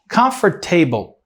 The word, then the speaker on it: comfortable: Comfortable, comfortable. Não existe essa pronúncia. A pronúncia é comfortable. Comfortable. Comfortable. E tem muita gente que pronuncia comfortable. Comfortable é comfortable. Comfortable. Comfortable. A primeira sílaba é a sílaba forte.